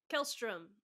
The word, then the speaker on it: Kjelstrom: Kjelstrom. The J is silent.